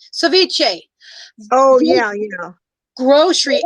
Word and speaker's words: ceviche: it is um uh the word chevashay is coming to my head but that is not how you pronounce it ceviche oh yeah you know